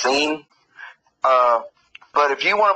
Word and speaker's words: Sin: ism is the moon god sin and it's pronounced scene uh but if you want to believe in seeing you go right ahead see and that's the